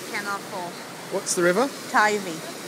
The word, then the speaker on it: Teifi: Teifi. How do you spell that?